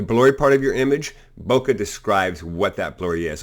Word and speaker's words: bokeh: to be then there's bokeh pronounced Boca emphasis on both syllables and it's used to